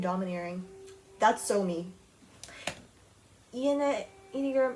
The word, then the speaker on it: enneagram: gonna i don't wanna like say it wrong pronunciation anya girl enneagram enneagram okay so my enneagram is eight and i